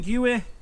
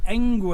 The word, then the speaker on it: Engwe: to sum this up the UI sorry the enu I keep saying it wrong the enu l20 in